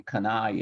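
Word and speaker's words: Cannae: I think it's usually Kanai in English.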